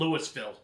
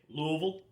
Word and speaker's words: Louisville: Don't ever call it Lewisville. No, it's not Lewisville. How dare you? How dare you? Yeah. And people are like, "Well, how do you say it?" Louisville.